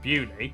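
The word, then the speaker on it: Beaulieu: tourist humiliation across the country starting in bialio bewley head over to rampisham Ransom then down to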